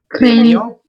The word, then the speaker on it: craignons: Nous craignons. Non, it is pronounced as nya. Craignons.